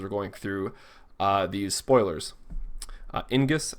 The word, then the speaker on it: Ingus: Ingus, I believe is how you pronounce it, enters the field, play 1 job, standard unit of cost 2 or less from your hand onto the field.